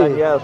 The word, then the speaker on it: Daniel: I think that's how it should be pronounced by Jews, and a lot of Jews mispronounce Really? Daniel. Yeah, the emphasis on the yel.